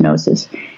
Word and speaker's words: gnosis: Well, the Greeks had two words for knowledge, logos, meaning the mental apparatus, the intelligence, and gnosis, spelled with a G, like gnosis, but pronounced gnosis.